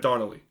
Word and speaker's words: Donnelly: got Laura Donna Connelly it's spelled like Jennifer Connelly but Donnelly so it's Loa Donnelly there we go uh